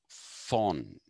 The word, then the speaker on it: von: Now, if you're wondering why I have put that von, in German, the V is pronounced fa.